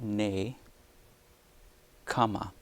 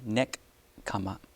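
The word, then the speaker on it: nekkhamma: doesn't mean no Karma I originally thought it meant nay Kama but when I relooked at the definition and in the dictionary it says neck K so it's definitely pronounced differently it means renunciation to give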